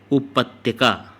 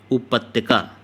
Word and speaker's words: उपत्यका: उपत्या, उपत्याका, उपत्या, इसका होगा अधित्यक्या, ठीक। सी ऑप्शन देख लीजिएगा इसको। उपत्यका, सही उच्चारण क्या है? उपत्यका।